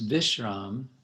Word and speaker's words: vishram: be a v but in Bengali B and V are basically the same pronounced as B so it's vishram uh in Sanskrit and